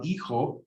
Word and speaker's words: hijo: The son, el hijo, the daughter on the other side is la hija. Remember the H is silent, and the J can be an H if you want.